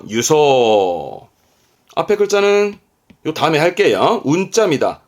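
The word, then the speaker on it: 輸送: 수송 나르는 수송 발음은 유소 있지마 유입니다 유소 수소 아니 유입니다 잊지 마요 한 번 더 유소 앞에 글자는요 다음에 할게요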